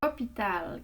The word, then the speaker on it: hôpital: Hôpital, qui est un nom, un hôpital, qui est un nom masculin. Remarquez qu'il y a un H muet au début et un accent circonflexe sur le O.